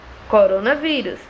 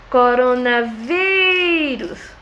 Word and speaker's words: coronavírus: Coronavírus. Vamos dar nosso gritinho. Coronavírus. Qual foi a sílaba que eu pronunciei mais tempo, com mais força? Foi o vi.